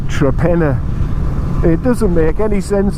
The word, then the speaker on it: Torpenhow: You know how that's pronounced? Trepenna. It's spelt Torpenhow, but we pronounce it Trepenner.